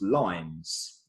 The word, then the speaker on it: loins: about this line now loins actually an original Shakespeare was pronounced lines right the original line